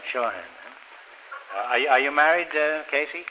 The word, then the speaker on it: Shawhan: Casey Shawhan, is that how you pronounce it? That's right. Shawhan.